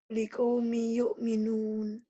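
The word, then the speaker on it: لِقَوْمٍ يُؤْمِنُونَ: Setiap tanwin bertemu huruf bertasjid, tanwinnya baca satu. Tuh. Liqaumin jadi liqaumi.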